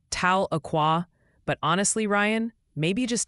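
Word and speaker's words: Tahlequah: It's something like Tala Aqua.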